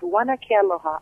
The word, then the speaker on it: Huana Ke Aloha: I'm gonna attempt right now to pronounce the name of your album. It's Huana Ke Aloha. Is that right? Yeah, Huana Ke Aloha.